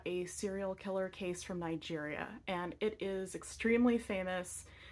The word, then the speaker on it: Niger: nigeria is pronounced niger because it was a french colony and so it has a more french sounding name the specific area of